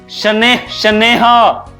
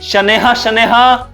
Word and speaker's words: शनैः: और विसर्ग लगा हो तो विसर्ग का मतलब क्या होता है? ह। जैसे मैंने बताया, कुछ एग्जांपल दिया, प्रातः, शनैः शनैः, ठीक है, क्रमशः।